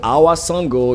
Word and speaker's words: Awa Sangho: So Awa Sango, it's spelled AWASANGHO. S as in Sam, A like Anna, okay, N Natalie, all right, G George. All right, H Hotel, O Oscar.